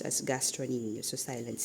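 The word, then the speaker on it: gastrocnemius: It's spelled as gastroemus but is pronounced as gastronomius.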